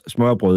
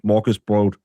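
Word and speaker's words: smørrebrød: It's actually Danish smurble is how you say it because you Yanks calls it Morus B. Morgus B. It's not. It's smurble.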